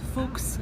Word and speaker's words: Fuchs: to spell it uh his last name means fox in German but it's folks and this saying came